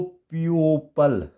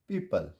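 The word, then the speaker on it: people: पी ई ओ पी एल ई, तो इसको प्यूपल नहीं पढ़ेंगे, ठीक है, क्या बन जाएगा, पीपल।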